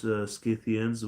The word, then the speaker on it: Scythians: Also, I'm glad to hear someone else pronounce Scythians with the hard K. It always annoys me that people say it with a soft K.